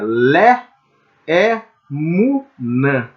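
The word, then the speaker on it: לאמונה: Então seria le emunã, le emunã, le emunã seria a pronúncia correta, indicando assim um caminho, né?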